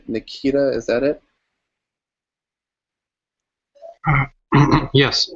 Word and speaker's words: Nikita: so is this how you say your name Nikita is that it yes Nikita oh nik nik nik Nikita right uh Nikita